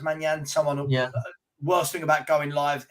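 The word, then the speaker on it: Maignan: Well, yeah, Manyan's coming back. I think it's pronounced Manyan.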